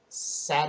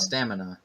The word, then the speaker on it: stamina: Satima? No, it's stamina.